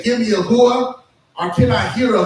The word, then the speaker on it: hooah: Army is the word hooah. Now, I'll say that differently here in a second. Hooah is spelled H-O-O-A-H, but most of the time you would hear a person say, hooah!